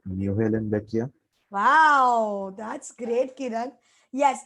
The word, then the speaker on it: Muhlenbeckia: Is it pronounced Newhalen Beckia? Wow, that's great, Kiran. Yes, it is pronounced as Muhlenbeckia. Muhlenbeckia.